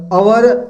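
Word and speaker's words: hour: चलिए आगे देखें तो एन एक्टर, एक ए आ रही ध्वनि, एन एग्जाम्पल, ये तो इजी है, लेकिन ये जो है अवर, ऑनेस्ट और एयर, ये तीन शब्द एस से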